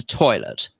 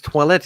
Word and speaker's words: toilette: You think when they're in France that perfume's called eau de toilette? Eau de toilette. No, that's what we call it over here. It's not called toilet. It's toilette.